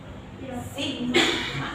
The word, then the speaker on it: sigma: Sigma. Jadi dibacanya sigma.